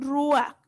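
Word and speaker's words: רוּחַ: Espíritu en hebreo se pronuncia ruah y en griego se pronuncia neuma.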